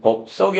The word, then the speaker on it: 법석: 자, 거기에 비해서 왜 난리 법석인지 모르겠네 할 땐 법석이 아니라 소리는 법석으로 나요.